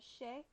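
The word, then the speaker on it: chaise: I think I don't know how to say the plural, but the singular is shay, like a shay lounge Oh.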